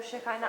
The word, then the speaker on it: Shekinah: Shekinah. Shekinah. Šekina. A co jsem No, řekla? probably not. Okay. That's a whole other lecture. Já vás neslyším, cože? Šekina nebo Šekajna, ale to strašně záleží na výslovnosti, to najdete v každé knižce o kabale.